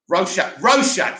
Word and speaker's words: Rorschach: Rorschach, that's it, first finds the badge and subsequently